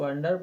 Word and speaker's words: under: देखो इसमें भी ND दो व्यंजन दिए हैं, तभी तो हमने इसको अंडर पढ़ा।